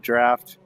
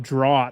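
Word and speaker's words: draught: I I worked with somebody that pronounced it dro for years until he realized that it was just a fancy way of spelling draft.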